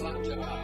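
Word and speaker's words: Slàinte: I'd like us all to participate as a traditional toast in Scottish that is pronounced Slanja.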